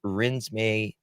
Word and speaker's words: Renesmay: Her name is Rinsme it. That's how you pronounce it.